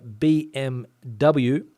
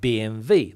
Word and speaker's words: BMW: the car manufacturer BMW here in Spain is so it's like BMV they don't even try to pronounce the w b Bublé for whatever reason I've got no idea it's clear that it's b m w but Spanish people like to say b m v whatever reason don't know